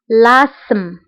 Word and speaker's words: l'asthme: فهنا تي اش لا تنطق نقول asthme l'asthme.